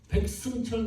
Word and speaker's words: 백승철: 제가 미국 가서 너무 힘든 게 백승철 그러니까 승자를 발음하는 미국 사람을 보지 못했습니다.